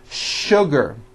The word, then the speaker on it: sugar: not know is that there are some words in english that are written with the letter s but are pronounced with the sh sound words like sugar and sure and to